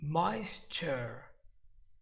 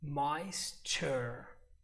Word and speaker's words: moisture: everybody else also that every time you see this T sound you're going to pronounce it kind of CH you're going to pronounce